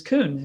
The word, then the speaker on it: Coon: then you have my last name which is kuhn it's um it's spelled c-o-o-n so it's the bad